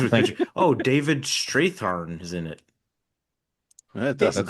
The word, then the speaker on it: Strathairn: Strathairn. Yeah, Okay, Strathairn.